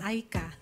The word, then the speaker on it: Aicha: But the spelling is Aicha. But it's pronounced Aika.